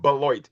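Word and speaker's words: Beloit: We went from the f the the city we were in was called Bloit and it's spelled below it.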